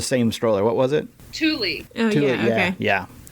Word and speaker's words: Thule: Thule. Oh, Thule, yeah, okay. Yeah. Is that how you pronounce it? Yeah. Yeah. I've heard Tool or Thule, but yeah, Thule. Yeah. Thule's how us Americans say it.